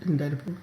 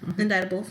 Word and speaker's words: indictable: Inditable. Inditable. Well, there's a C. That's why. I know. I know. I hate silent letters sometimes.